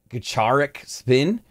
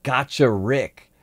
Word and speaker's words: Gacharic Spin: higher than most bg i once pronounced this band kacharik spin but i believe it's actually called gotcha rick which i was i